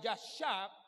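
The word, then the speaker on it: ישב: Me repito, habitar, que se pronuncia yashab, implica el concepto de casarse.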